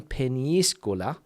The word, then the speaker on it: Peñíscola: Difficult word to pronounce that one, Peñíscola, because it's got the ñ, and of course I think they have that tilde. I think they call it like a little thing over the I that you need to stress it.